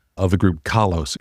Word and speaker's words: Kalos: So let's talk about the name of the group Kalos.